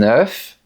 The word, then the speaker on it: œuf: Si on prend le mot œuf, au singulier, on prononce le F. On dira je casse un œuf pour faire des crêpes. Mais au pluriel, on dira je casse des œufs pour faire des crêpes. On ne prononce pas la lettre F ni la lettre S. On dit un œuf mais des œufs.